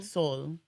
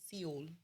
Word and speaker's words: Seoul: that he renounce it what soul soul yeah I've been pronouncing it seal it's it's all but